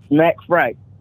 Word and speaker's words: Smacc Freight: Smacc Freight.